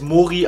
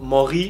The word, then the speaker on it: Moré: Der Name ist einmal Mori. Einige dachten, er heißt Mori, also deutsch ausgesprochen, aber ich habe mich für eine französische Aussprache entschieden, weil es einfach besser klingt.